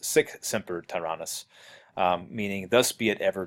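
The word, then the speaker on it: sic semper tyrannis: the stage and yells seek Semper Tyrannis or I guess actually pronounced sick Semper Tyrannis meaning thus be it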